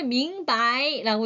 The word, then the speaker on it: 明白: 한번 가볼까요 어떤 단어인지 원래 밍바이라고 읽어야 되는데 경성으로 읽어 주시면 좋습니다 여러분들 자 그래서 명백 흰색